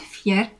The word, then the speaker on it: Fjer: So I think I got it right, Fjer. It's quite funny. It means feather in Danish, but saying it like that, Fjer means proud in French.